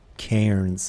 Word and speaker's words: cairn: No, the piles of stones are called cairns. I don't know how you pronounce it.